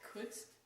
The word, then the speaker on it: couldst: I would thou couldst. Could. How do you pronounce that?